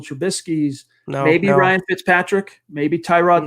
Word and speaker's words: Tyrod: maybe ryan fitzpatrick maybe tyrod taylor or torrad it's how he pronounces it andy dalton maybe as